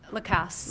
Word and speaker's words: Lacasse: I'm sorry, how you pronounce it? Lacasse.